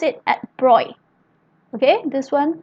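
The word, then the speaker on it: Broglie: to louis de bruy so here we pronounce pronounce it at broy okay this one pronounce it a bright louise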